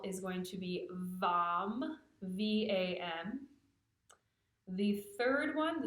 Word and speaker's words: Vam: The second one, the sacral chakra syllable, is going to be Vam, V-A-M.